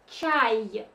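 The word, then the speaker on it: чай: So this letter is this one, ch. This is R, and this is E, y. So pronounce it all together like chai, chai.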